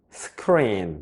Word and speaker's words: screen: 여기에서 발음상 주의하셔야 될 부분이 알파벳 E와 또 다른 알파벳 E가 있죠? 어떻게 발음한다고 했어요? 그렇죠. 살짝 길게 발음한다고 했죠. 그래서 스크린 이렇게 발음이 되는 거예요.